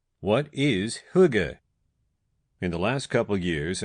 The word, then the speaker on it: hygge: First of all, let's start with how you say it. pronounced huga.